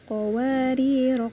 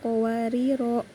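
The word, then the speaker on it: قوارير: Kenapa dibaca? Wa akwabinat qowarir qowarir. Nah, kenapa qowarir tidak qowarro?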